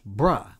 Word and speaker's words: bro: Now, bro, for the most part, is pronounced bruh, B-R-U-H.